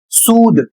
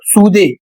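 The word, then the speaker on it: soothe: अगला शब्द है S double O टी एच ई और इसे पढ़ेंगे सूद। इसको बहुत से लोग सूधे या अन्य तरीके से सूत या सूथे पढ़ते हैं।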